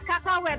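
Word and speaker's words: cacahuète: Kakawet. Tulisannya emang cacak wet ya, tapi bacanya kakawet.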